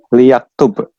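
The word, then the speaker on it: ليكتب: lamul amr ya, lamul amr bacanya li ya. Jadi li, Li yaktub.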